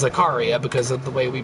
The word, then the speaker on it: Zaccaria: I think it's pronounced Zaccaria is how they would say it in Italy. But everyone I've ever heard say the word here in America says Zaccaria because of the way we pronounce things.